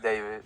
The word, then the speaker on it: D4VD: Pronounced David, not D4VD.